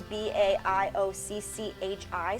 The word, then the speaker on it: Baiocchi: I don't know, because my grandma's maiden name was Baiocchi, and it's Baioccchi, so it's kind of this like same ending.